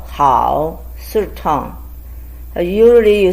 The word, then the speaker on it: 好: The way it's pronounced is 喝熬好 third tone.